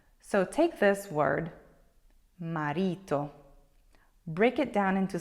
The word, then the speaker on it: marito: example fits perfectly because in English 90 of the words have an accent that falls on the first syllable so that's why it's very common for English speakers to want to say marito instead of marito let's try with another